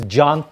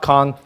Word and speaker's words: Can: My name is John, and this is how you pronounce my name. It is John. It's not. It's not Khan.